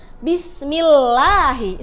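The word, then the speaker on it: بسم الله: Kalau tipis ini ada lafaz Allah, sebelumnya ada huruf mim yang berharokat kasroh, makanya dia tipis ya. Bismillahi.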